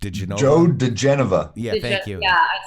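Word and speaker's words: Joe diGenova: Joe DeGenova.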